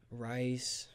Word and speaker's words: Rhys: like that yeah like nobody ever says my name right first cuz it's spelled weird so I was like yeah I just spell it out for him rice RIS I got Riley